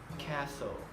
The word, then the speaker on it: castle: And next, the letter T can also be silent, like in these examples, and there's quite a few. For example, listen, castle, Christmas, and whistle.